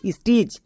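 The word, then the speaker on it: stitch: তাহলে এস টি আই সি এইচ স্টিচ। এবার এখানে টিটা সাইলেন্ট। কেন সাইলেন্ট? আমরা সবাই জানি রিডিং করার ক্ষেত্রে যদি টি এর পরে সিএইচ থাকে তখন টি সাইলেন্ট।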